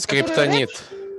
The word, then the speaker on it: Скриптонит: Скриптонит.